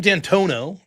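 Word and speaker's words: D'Antuono: Now, Steve Dantono, I think I'm pronouncing that correct.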